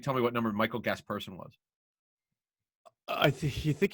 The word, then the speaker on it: Gasperson: that way it was it's michael gasperson it was not guest person well how would i